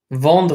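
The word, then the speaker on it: vendredi: e di Von D I will point out here this e n involve anything with an en is pronounced on all e ends and French are pronounced home okay in fact a small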